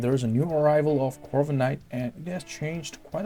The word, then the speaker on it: Corviknight: And there's a new arrival of Corviknight, and it has changed quite a lot of the things in the meta and the rankings.